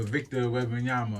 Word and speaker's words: Victor Wembanyama: My joke is that, we trade them for, we trying to get all these picks for Victor Wembanyama, or how you say his name, right?